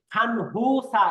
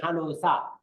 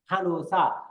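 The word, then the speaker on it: 간호사: তারপরে খানুসা এমনি এটার উচ্চারণ কিন্তু দেন খানু খানহুসা এরকম না উচ্চারণ হবে খানুসা খানুসা অর্থাৎ নিয়নের পরে হিউ থাকলে এই নিয়নটা হিউতের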